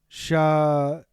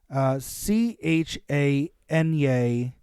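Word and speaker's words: Chañarcillo: It is said that an alicanto guided Juan Godoy to the rich silver outcrops of, I'm going to mispronounce this name and I apologize, Chaniercio? Chanyaarcillo. Okay.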